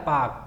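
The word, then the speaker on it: Palk: ये पाक पाकिस्तान वाला नहीं है, ये पाक एक व्यक्ति का नाम था, ब्रिटिश काल में भारत आया था, ये पाल, तो इसका एल हो जाता है साइलेंट, तो कर देता है पाक, पाक जल डमरू मध्य।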